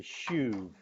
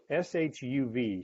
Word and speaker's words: shuv: here's your first word the little word return is a jewish word pronounced this way shuv shuv shuv say that with me